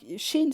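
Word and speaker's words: Shein: sur chine je crois Chine c'est ça s h e i n Chine je sais pas si ça se prononce comme ça sur TMU Aliexpress tu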